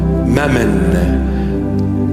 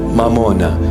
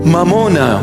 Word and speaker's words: mamona: in our language mamuna Mamon in English they just translated it you know sounding Aramaic almost Aramaic it's not M mamona come I teach you the proper pronunciation mamona money the Lord himself said